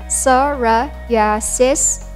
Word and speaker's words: psoriasis: term are chronic disease with no cure it's pronounced as psoriasis sora yasis and not psoriasis and we hope none of